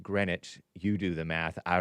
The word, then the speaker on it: Greenwich: It looks like Greenwich, but it's pronounced Greenwich.